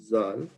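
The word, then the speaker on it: ذال: So when we say this word, Zal, we have a little bit of T and Z sound, okay?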